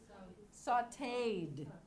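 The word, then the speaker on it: sautéed: One syllable, sliced. Okay? Saute is a regular verb with this crazy accented E. Sauteed.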